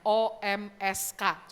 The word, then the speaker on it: Omsk: Ya tulisannya susah bacanya, OMSK, coba baca gimana. Ya, pakai huruf mati semua, Omsk, Siberia.